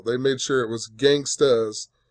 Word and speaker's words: Gangsta's: So, this guy, Nick, on Jeopardy, lost $3,200, and it brought him down to $8,800 because he incorrectly pronounced Gangsta's Paradise and said gangsters.